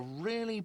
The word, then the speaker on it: real: What's real? Oh, excuse me. You owe me 130 real. He pronounces it with the R with a mock aristocratic accent.